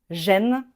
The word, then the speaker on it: gêne: En plus, ils s'écrivent différemment mais ils se prononcent exactement de la même façon. gêne gêne, il y en a un qui est féminin, un qui est masculin.